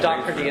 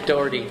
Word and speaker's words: Doherty: It's just not pronounced. I don't pronounce it. Right. Doherty as opposed to Doherty.